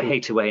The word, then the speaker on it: Hathaway: life saying not you so hate away in hathaway were alternative pronunciations but sonic121 that i